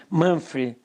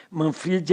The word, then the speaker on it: Manfred: E, para quem não sabe, o meu nome é Manfred, se escreve Manfred, se lê Manfred, é alemão, não é Manfred, é italiano, Manfred é italiano, meu nome é alemão, eu tenho nome de alemão, né?